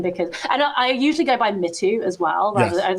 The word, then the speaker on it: Mitu: No, so I am not too precious about the pronunciations of my name, because I usually go by Mitu as well. Rather, I would say like 50% of people say Mitu or Mitu.